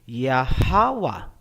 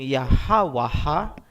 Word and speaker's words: Yahawa: Bakit hindi nilagyan ng isa pang a sa dulo? Hindi ba dapat naging yahawaha? Hindi po. Kasi ang a binibigkas kung may susunod pang syllable. Kung wala ng susunod na syllable pagkatapos ng last letter, hindi na po bibigkasin ang tunog na a.